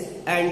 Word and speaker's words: end: अब यहाँ पे एक वर्ड है ENT, इसे इंड ना कहिएगा, इसे एंड कहिएगा। ठीक है, इसका प्रोनाउंसिएशन एक्चुअल प्रोनाउंसिएशन एंड है।